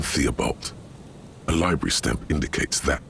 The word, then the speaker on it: Theobald: Theobald. A library stamp indicates that the book has been returned. Okay, that said Thibault, by the way. I know it sounds like there's a lot of letters to pronounce, but it's really just Thibault.